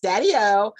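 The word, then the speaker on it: daideó: him as listen to this daddy-o which is pronounced daddy-o irish for irish and gaelic uh for grandfather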